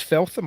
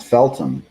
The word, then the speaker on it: Feltham: as well i think is it feltham or feltham i've always heard it pronounced feltom yeah that's probably right felton but he you got